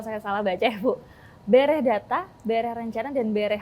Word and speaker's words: bereh: Bereh data, bereh rencana, dan bereh hasil. Betul Bu, bacanya seperti itu ya? Itu maknanya apa sih Bu, semboyan ini? Nah, kalau bereh data, bereh itu artinya beres.